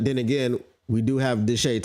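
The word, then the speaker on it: Deshea: But then again, we do have Deshae Townsend, not Deshae. That's not how you say his name, right?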